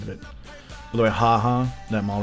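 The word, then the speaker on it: ห้า: By the way, haha, that mall right there has 5 underneath it. 5 is pronounced ha.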